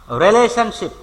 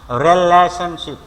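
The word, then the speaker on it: relationship: রিলেশনশিপ, রিলেশনশিপ সম্পর্ক। Link, link মানেও সম্পর্ক। রিলেটিভস, রিলেটিভস আত্মীয়। এগুলো আমরা দেখো রিলেশনশিপ বলি, উচ্চারণ রিলেশন না, রিলেশনশিপ।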